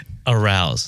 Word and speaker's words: Arauz: arouse. It's arouse. But it's not spelled like No, it's think of arouse. It's ARAUZ as opposed to AROUSE.